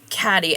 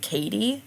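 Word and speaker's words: Cadie: Yeah, Catty Shupe was born Caddyy. And let me be clear, it's spelled C A D I E. We've always pronounced it Caddyy, though I could see a world in which it's pronounced like Katie, but we've always said Catty.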